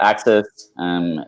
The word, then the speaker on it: AXS: But talk me through Axis. Am I pronouncing that correctly? Yeah, you got it. So Axis, ticker is AXS.